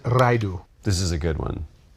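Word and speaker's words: Ridu: R-I-D-U. Redo Lottle. Don't like these? Try again with the same. I pronounce it Raidu.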